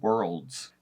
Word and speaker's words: worlds: that I think of the primary example is the word worlds that's an rld DS all together all of those are their own consonant so to put them all together is incredibly difficult but it's something that